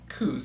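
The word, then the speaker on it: Cuse: his name wrong too i used to think it was carlton cruz it's not it's carlton and then koos c-u-s-e he actually was the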